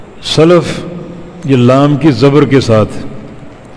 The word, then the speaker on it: سلفی: ہم کہتے ہیں فلاں سلفی ہے، سلفی غلط ہے، سلفی لام کی زبر کے ساتھ فلاں سلفی ہے، ان اچھے گزرے ہوئے لوگوں کا پیروکار.